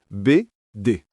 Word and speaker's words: BD: Il faut prononcer BD.